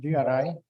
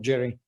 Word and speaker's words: GRI: the gri okay that should be gri as maria pronounce it and not jerry jerry is somebody else